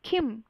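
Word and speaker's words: 김: सबसे पहले तो आपको ये समझना होगा कि कोरियन में कभी भी के को क नहीं बोलते, बल्कि खिम खिम ऐसा बोलते हैं। जिन भी बीटीएस मेंबर्स का सरनेम किम है उसको किम नहीं बल्कि खिम बोलेंगे।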